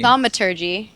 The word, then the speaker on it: thaumaturgy: it is give me- thaumaturgy is how you actually pronounce it. And Thaumaturgy? I would go for- yeah, thaumaturgy. Not thaumaturgy? No. Thaumaturgy sounds so Well, I much just gotta- cooler. It does sound better that way. I'm going to pronounce that thaumaturgy.